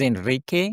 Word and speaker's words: Henrique: My real name is Enrique in Portuguese, but it's a little hard to pronounce.